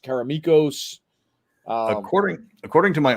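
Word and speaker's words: Karameikos: can people pronounce caromicos caramacos caramicos uh according according to my artist who is greek it is karamikos yeah that is a greek name and that is how a greek name would be pronounced yeah and uh but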